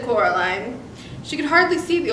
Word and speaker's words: Coraline: name wrong you know they kept calling you coraline not caroline not caroline at all he picked up